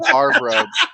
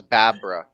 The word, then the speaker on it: Babra: They were calling him Barbara, but it his name was Babra.